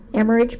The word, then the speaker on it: Amherst: 51% use, help me pronounce that? Amherst Park, I thought so.